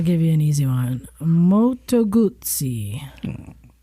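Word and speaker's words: Moto Guzzi: Moto Gutsi.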